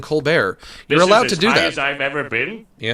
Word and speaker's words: Colbert: I think uh I think his parents, they pronounced it Colbert. And then one day he was just like, "You know what? I'm going to start saying Co Bear."